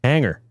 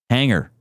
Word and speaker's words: hangar: Hangar. Hangar. You're not saying the G at all, though.